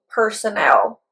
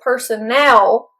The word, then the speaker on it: personnel: But with personnel, the stress is on the last syllable.